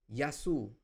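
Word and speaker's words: γεια σου: So, here also in hello, you can see that yasu.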